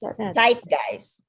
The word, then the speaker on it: Zeitgeist: Okay, so remember the Z, it's pronounced as TS when it's in a word. So set. Okay. Zeitgeist, for instance. Now zeitgeist. Like TS, like that. Zeitgeist.